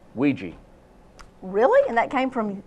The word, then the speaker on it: Ouija: Well, it's often mispronounced. Ouija.